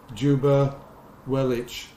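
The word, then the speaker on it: Ljuba Welitsch: I don't know how you pronounce that. Juba Wellich. I'm presuming that L is a silent L.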